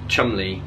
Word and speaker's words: Cholmondeley: So in the same way that I have characters called like Chumley, where it looks like it's pronounced Cholmondeley, that's what he did with Cockerings.